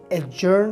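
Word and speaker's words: adjourn: इस लफ्ज़ में लेटर डी साइलेंट है, आपने इसे एजर्न प्रोनाउंस करना है।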